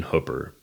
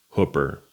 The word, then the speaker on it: Hooper: I'm saying Hooper, and I think that that's historically correct. But I've also heard Hooper, which I say in this video, and I've even heard Hupper, which I don't know how you get that, but I've heard it from multiple people, so I'm assuming that that is also a correct way to pronounce it.